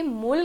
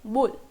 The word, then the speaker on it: 물: ये मुल की जगह आपको बुल, बुल, ब वाला साउंड आ रहा है, ऐसा सुनाई देगा, बुल। इसका प्रोनाउंसिएशन यही है, बुल।